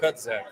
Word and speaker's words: CutX: CutZek. The CutZek Center. The X is a Z sound. The Z is silent.